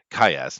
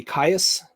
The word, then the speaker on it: Caius: It's funny because you're actually pronouncing it the way it's said, but I always say Caius just because it rolls off the tongue a little bit easier.